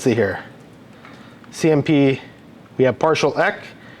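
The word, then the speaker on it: PartialEq: here CMP we have partial e that's how that's pronounced partial e partial equality partial or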